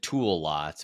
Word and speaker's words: Toolots: So it's you can pronounce it tool lots, but it's spelled TOOLOTS.